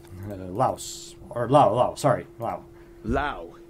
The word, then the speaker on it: Laos: or oh sorry Wow Lao it's pronounced Lao not Laos Wow cool okay okay